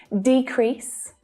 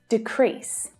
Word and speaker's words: decrease: at the first word as a noun the stress is on the first syllable as a verb the stress is on the second syllable so listen decrease decrease can you hear the